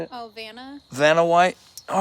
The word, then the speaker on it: Vanna: Oh, Vanna.